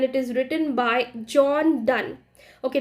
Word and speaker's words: Donne: Okay, the spelling goes like DONNE एंड इट is pronounced as डन। डोनी नहीं बोलेंगे इसको, John डोनी नहीं है, जॉन डोन भी नहीं है, इट is John डन। Okay, so while we are speaking in English, pronunciation plays a vital role. So please focus upon what you pronounce. So it is John Donne.